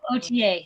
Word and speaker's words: Authier: That's Audier, is that right? no OTA. OTA. OTA, but it's spelled OTA. Authier. But Right. it's like OTA, but Okay.